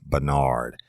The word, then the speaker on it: Barnard: by a lady called Kathy Bernard, and it's spelled Barnard.